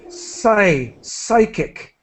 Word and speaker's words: psychic: sorry just for everybodyy psychic psychic psychic yeah and that that pronunciation psychology and yeah psychic phenomena